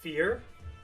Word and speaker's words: Fir: Rather focus all my energy into getting Fur. I would like to get Fur at +1. So I'm kind of bothered with how Fur's name is pronounced, because in Japanese it's pronounced Fear, which is how I